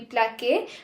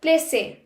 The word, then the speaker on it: placer: That's because we don't want the pronunciation to be plaqué but placer.